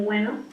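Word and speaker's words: güeno: verso 3 dice bueno, así se pronuncia con diéresis, no como bueno, sino ni con B, sino con el sonido de la G más la diéresis, pero es propio del habla de los gauchos, ¿no?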